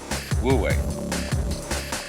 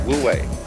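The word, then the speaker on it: 無為: because it's already here and then this is pronounced W one is woo this one is way wo way way means to act to strain to strive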